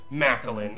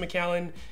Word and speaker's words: Macallan: is good in the world do not say meline I had a kid who tried to sell me some Mallen and I literally wanted to take the seven